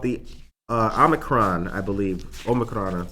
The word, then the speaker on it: Omicron: Omicron is how you pronounce it.